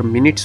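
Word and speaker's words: minutes: गोलमाल है एम आई एन यू टी ई एस का उच्चार मिनट्स होता है तो टाइम दिखाने के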